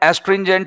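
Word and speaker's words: astringent: दोस्तों एस्ट्रिंजेंट याद रखेंगे देखो इसका उच्चारण है एस्ट्रिंजेंट होता है उच्चारण तो लेकिन मैं इसके तीन टुकड़े कर देता हूं आस आस ऑस्ट्रिन ऑस्ट्रेन जेंट ऑस्ट्रेन जेंट मैं आप इसको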